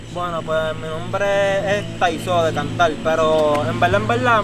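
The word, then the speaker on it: Thiso: Mira, Taizo, este es T-H-I-S-O.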